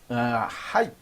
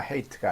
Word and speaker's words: height: 자, 높이는 height, 발음이 height입니다. hate가 아니고요.